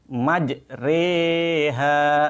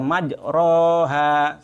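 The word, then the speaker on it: مجريها: dan bukan pula kasrah tetapi membacanya diantara Fathan kasrah artinya Fatah yang condong kepada kasrah jadi membacanya majreha seperti itu bukan dibaca majroha Salah Mari kita praktikkan membaca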